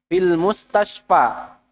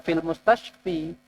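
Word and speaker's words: المستشفى: Kenapa antum nggak baca fil mustashfi? Iya, huruf jar harusnya kasroh. Mustashfi. Kenapa antum mustashfa? Salah. Betul, sudah betul. Karena ini merupakan kata atau isim yang ditutup dengan huruf ilat atau huruf penyakit, atau di situ adalah alif bengkok ya.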